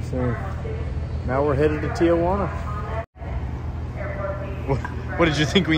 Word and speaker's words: Tijuana: I live in Tijuana. Okay. I have to pronounce it right.